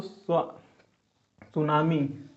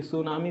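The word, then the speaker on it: tsunami: इसमें टी दोस्तों साइलेंट है, टी का पता नहीं चलता। बहुत जगह पूछता है दोस्तों कि सुनामी शब्द कैसा है और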